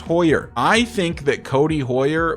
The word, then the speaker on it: Hoyer: in the comments by the way, that it's pronounced Hoyer.